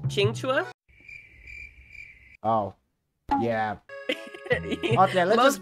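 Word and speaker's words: Qingque: Just to simplify it, but her name, I believe, is pronounced Qingchua.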